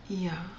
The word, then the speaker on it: Yah: it says his name it tells you how to pronounce his name and it's yah for short or Yahweh some people say yahawashi